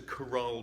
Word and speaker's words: chorale: But the chorale prelude is particular to the organ.